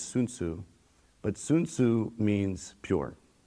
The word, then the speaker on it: Sun Soo: of different terms, um the one that I chose was Sun Soo, which the correct pronunciation in Korean is Soon Soo.